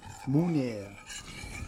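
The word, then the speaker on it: Meunière: Flounder, how's it pronounced? Meuniere.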